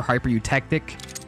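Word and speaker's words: hypereutectic: how to pronounce that before i was like kick tick hyper look hyper eutectic hyper eutectic i couldn't sound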